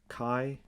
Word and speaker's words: chi: number it's pronounced so this greek letter is pronounced kai well that's at least